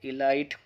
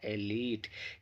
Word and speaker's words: elite: हिंदी में इसे चुनिंदा लोग कहते हैं, लेकिन हम सोचते हैं इलाइटी या कुछ और कहेंगे, लेकिन इसका ये प्रोनाउंसिएशन बिल्कुल गलत है। इसका भी आप सही से प्रोनाउंस करना सीख लीजिए, क्योंकि हम इसको ज़्यादातर यूज़ करते हैं। इसका सही प्रोनाउंसिएशन जो होता है वो होता है एलीट, यानी चुनिंदा लोग।